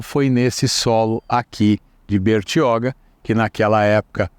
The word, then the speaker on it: Bertioga: Porque a pronúncia não era bem essa, a pronúncia do Tupi-Guarani o português trouxe para essa pronúncia que é Bertioga, que no fundo vem até a oca, né? Bertioga, Beritioca.